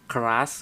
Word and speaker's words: Keras: Terus nanti juga ada TensorFlow, ada Scikit-learn, ada Keras kayak gitu. Sebenarnya kalau kita spesifiknya nanti untuk computer vision ini kita hanya pakai OpenCV kayak gitu. Dan untuk TensorFlow sama Keras ini dibacanya keras ya, keras.